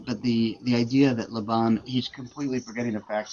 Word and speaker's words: Laban: Also, it completely forgets about the part that lab, by the way, the pronunciation of what did he say? Leban like nails on the chalkboard. Um, but the but the the idea that Laban he's completely forgetting the